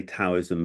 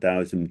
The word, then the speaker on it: Daoism: I mean well some people say taoism but the modern opinion uh says uh ta yeah and the thing is about dowism the idea is to return to that zero.